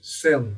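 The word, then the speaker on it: caelum: No latim tradicional, essa é a pronúncia, celum, apesar da escrita não ser essa.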